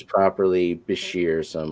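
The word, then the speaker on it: bichir: me it's properly Bashir, so I'm like, okay, I'll say it right, just because I haven't said it enough that I'm used to saying it the wrong way. I'm gonna say it Bisher, which is the way I heard it to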